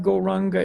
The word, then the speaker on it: Gauranga: is go wrong and we're going to divide gauranga into 4 syllables go rah um God that is the mantra